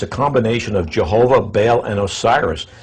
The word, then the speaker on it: Baal: Je, meaning Jehovah, or the Syriac name of God, as he says, and then Baal, or he says Bel, B-E-L, or Baal, he spells it B-A-A-L, how